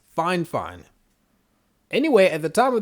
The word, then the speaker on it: Fifine: their own ears because everybody seems to pronounce the company name differently there's fi fine there's fifone i saw a reviewer type in the comments that they actually got the official pronunciation and it's fine fine anyway at the time